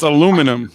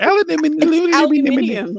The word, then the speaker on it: aluminium: It's aluminum. You make it all hard. Aluminium.